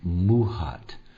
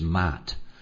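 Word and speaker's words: Maat: Anyway, um it it's more the sound is actually more like muhat um than it is Matt.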